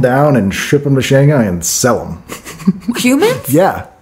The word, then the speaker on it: Shanghai: because I went to Shanghai it's actually Shanghai not Shanghai yeah we're not crazy